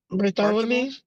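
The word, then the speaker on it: Barthelemy: Bartha Bartholomew.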